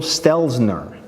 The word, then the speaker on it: Stelzner: look it up okay so I just hook it up it's Michael Stelzner I don't know why I never get his name right Michael Stelzner and then when I